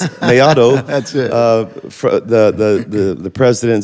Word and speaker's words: Mellado: I wanted to pronounce it. Mellado. Some people say Mellado, but it's not right. It's Mellado.